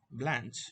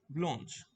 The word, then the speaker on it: Blanche: Remember, Blanche is the American pronunciation, and the French pronunciation is Blanche, which means white.